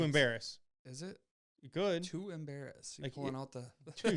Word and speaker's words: Embarrass: how you say it I think embarrass yeah like the word embarrassing embarrass a r r a SS embarrass yes I think it's embarrass like the word embarrass too embarrass is it good